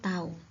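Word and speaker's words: τ: Ini dibacanya tau.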